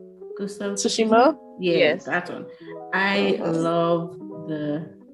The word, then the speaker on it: Tsushima: of what's the word to shima i might pronounce it right tushima tsushima yes saturn i love the ots and the